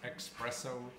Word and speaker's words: espresso: Espresso is spelled with E-S and not E-X. Espresso.